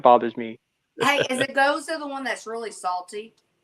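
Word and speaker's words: Gose: Yeah, I get annoyed when people can't pronounce Goza properly. Oh yeah. Oh, can I get a goose?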